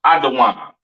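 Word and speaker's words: אדום: Caucasian man woman and child pronounced adaan uh excuse me Assyrian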